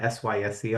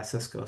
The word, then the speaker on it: Cisco: So thankfully, I was able to join a company, Cisco. Everybody knows Cisco, and I'll say CISCO, not SYSCO.